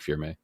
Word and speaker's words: Firme: So I started a nonprofit called Firm Foundation, and spelled with E at the end of Firm, so like firme. And that means solid or strong in the Creole language.